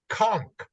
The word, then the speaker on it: Conk: Here's how it's spelled: METEDECONK. Metedeconk. It's also known colloquially as the Conk.